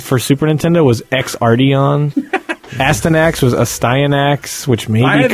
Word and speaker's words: Astyanax: I always said Astanax, but I think it is Astyanax. It's Greek or some shit.